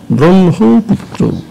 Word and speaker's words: ব্রহ্মপুত্র: যুক্তবর্ণটি হয় মা হলেও হয়ের উচ্চারণটি পরে হয়, ময়ের উচ্চারণটি আগে হয়, তাই বলা হয়েছে ব্রহ্মপুত্র।